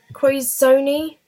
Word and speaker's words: Quizoni: It's Quizoni. Can you get the letters on there? Is it going to show up? Kind of. It's spelt like quiz, then Zony, so it's quiz, then Zony.